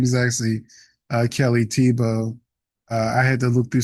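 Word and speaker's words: Kelly Thiebaud: I've been calling her Kelly Thabo, but her name is actually Kelly Tebow.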